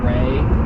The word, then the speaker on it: Ralph: How many people are out there that have named their dog Ray, but it's spelled Ralph, like Ray Fiennes?